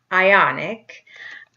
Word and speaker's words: Ioniq: pundit I canada hyundai ioniq spelled with io and IQ making you want to say hyundai ioniq but that's not right imploded on my drive